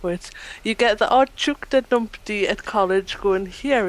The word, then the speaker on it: Teuchter: It's spelled with a T. Teuchter. Chukta.